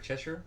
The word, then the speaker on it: Cheshire: Did I pronounce it right? Cheshire? Yeah.